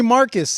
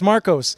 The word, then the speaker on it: Marcos: Dude, people call me Marcus, and it's Marcos.